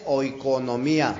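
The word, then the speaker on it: οἰκονομία: Entonces, fíjate bien, hermanito, conforme al griego la palabra economía es oikonomía, así se pronuncia, brother, ¿sí?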